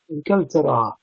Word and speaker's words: إنكلترا: إنكلترا means England. Very similar to the French pronunciation Angleterre. Inkeltera.